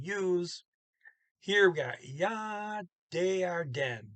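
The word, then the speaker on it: det: Here we got ja, de are den. That's D-E-T. T don't get pronounced, it's just de.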